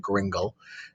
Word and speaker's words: gringle: is called the gringle story that's how you pronounce that gringle and uh this is a story that is